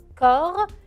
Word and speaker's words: corps: mot un peu bizarre il s'écrit avec la lettre c o r corps et se termine par deux lettres que je ne prononce pas avec le p et